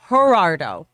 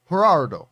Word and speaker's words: Gerardo: my little dude also the j in my name is pronounced like h not that minded bring all the filthy gerardo gerardo gerardo gerardo uh